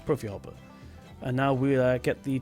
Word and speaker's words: Profihopper: Am I saying it right? Is it PROFIHOPPER? Yes, it is PROFIHOPPER.